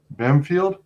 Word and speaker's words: Bampfylde: special guest uh pardon me is it pronounced bamfield that's absolutely right banfield okay all right uh welcome welcome welcome it